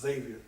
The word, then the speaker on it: Xavier: It's Xavier. Almost like a Z. It's spelled with an X, but yeah.